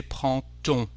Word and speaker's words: prend-on: Actually, the D, when there is a connection with another word, the D becomes a T, and we say prend-on.